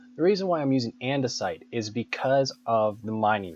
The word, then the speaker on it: andesite: Yes, some people say andersite, and I just have to make sure that I'm saying it correctly. The reason why I'm using andesite is because of the mining rate.